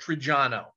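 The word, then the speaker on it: Triggiano: pronounce it in a way that you'll never spell it right um my family's from a town called trijano t-r-i-g-g-i-a-n-o and by the way if anybody in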